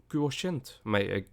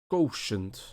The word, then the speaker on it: quotient: intelligence quotient quotient quotient the pronunciation i was using was based way too much on the dutch pronunciation which is quotient i can't even do it in that right now intelligence intelligence intelligence in english it's quotient all right intelligence quotient